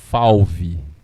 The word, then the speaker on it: fauve: Fauve. Escrito F-A-U-V-E. A gente pronuncia fauve.